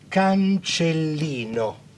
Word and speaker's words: cancellino: And in the dictionary, you will find this word, let's pronounce together. Cancellino, cancellino.